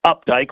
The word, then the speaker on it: Opdyke: one of the harder last names it's it's pronounced Updike like it should be spelled with a you